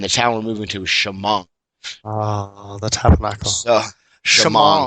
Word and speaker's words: Shamong: town we're moving to Shamong oh the Tabernacle so sh it's Shamong it's spelled s h a m o n g but all the Hicks back down there say Shamong so Shamong and you know nice